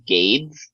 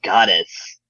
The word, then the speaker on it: Gades: I always thought it was Gades, but it's Goddess. Really? Yeah, some people thought it was like Gades because he kind of looks like Hades.